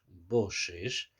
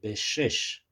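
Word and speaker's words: בשש: han enseñado además que la palabra boses boses en en el cfer torá se escribe bet Shin Shin bet Shin Shin y yo la podría también leer en vez de boses podría leer beses en seis B en seis Qué quiere decir esto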